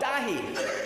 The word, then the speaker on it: Daithi: and they' say oh dahi because in gaic or Irish that's what you say it rhymes with mahi mahi so if you forget